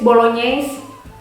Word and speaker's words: Bolognese: When you find GN, saat kalian nemu GN, otomatis kalian bacanya jadi nye, or atau seperti N, Y. Kayak gimana ya? Like this, Bolognese.